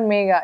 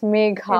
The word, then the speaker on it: Megha: Actually, yeah, it's not Megha, it's Megha. It's either Megha, Megha, I mean, nobody says Megha, actually.